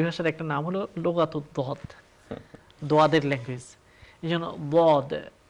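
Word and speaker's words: ض: তাহলে আপনি দেখতে পাবেন সেটা হচ্ছে বলিন, এটা ঠিক দলিন না, আবার ঠিক জলিন না, এটা হচ্ছে দুইটার মাঝখানে কম্বাইন্ড একটা উচ্চারণ। এবং আরবি ভাষাকে এই জন্যই বলা হয় লোগাতুদ দদ, দদের ল্যাঙ্গুয়েজ, অর্থাৎ এ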